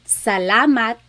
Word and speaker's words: salat: So, the letter a a not a and not a just a a. So, let's practice saying salat salat salat. It's not salat and it's not salat.